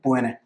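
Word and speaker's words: puisne: So that's इनकी pronunciation आती है PONA, right?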